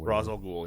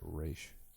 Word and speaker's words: Ra's al Ghul: Ra's al Ghul. Yep. He always pronounces that Raish. I think either is fine.